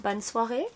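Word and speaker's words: bonsoir: know hopefully Darcy comes though yeah so uh bons Suare is that how you say it bons Suare yes oh excellent good evening bons Suare everyone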